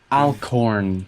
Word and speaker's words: Alcorn: Alcorn, like A-L, Al? then corn. What's it? Alcorn. A-L corn. Yes. C-O-R-N.